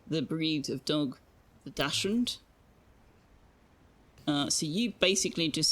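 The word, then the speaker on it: Dachshund: Ironically, everyone you know that owned a Dashund pronounced it Dotsson. Well, then they don't know how to pronounce German words. I It's actually not Dashund either. It's more like Dashund. Not that I'm going to pretend to be an expert at uh German pronunciation, but it's certainly not Dodson.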